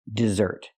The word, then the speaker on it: dessert: desert and this is dessert put the dress on the second syllable dessert this is dessert let's